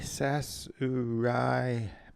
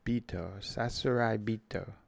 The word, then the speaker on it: Sasuraibito: That was the pronunciation key. Sasuraibito. Sasuraibito. The voice on Google Translate says it much slower than that. Sasuraibito.